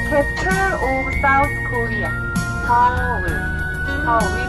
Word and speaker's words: Seoul: Seoul. We pronounce Seoul, not Seoul.